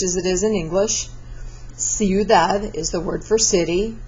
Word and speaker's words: ciudad: Ciudad is the word for city, followed by an I, so it's an S sound.